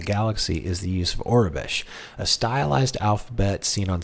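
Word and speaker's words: Aurebesh: How do you pronounce... Orabesh? Orabesh.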